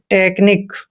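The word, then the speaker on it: technique: मात्रा पढ़ते हैं और सी एच का उच्चारण यहां पर क करेंगे जब भी सीच से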